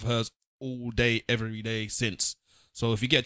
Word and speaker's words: Cyn: check out a blog called A Cup of Sin Tea. That's spelled CYN, the sin.